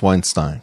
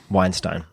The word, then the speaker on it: Weinstein: you say your last name I think it's Weinstein Weinstein I agree that's the more dramatic way to